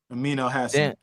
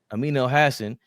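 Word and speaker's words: Amin Elhassan: He was on Amin El Hassan. That's how you say it. How you say it again? Amin El Hassan. Amin El Hassan.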